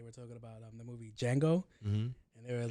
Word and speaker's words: Django: I was like, the D is silent.